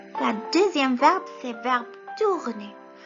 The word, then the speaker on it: tourner: La deuxième verbe, c'est verbe tourner. Tourner, معناه يلف. Tourner. T-O-U. Le O et le U, voyez le composé, ça se prononce OU.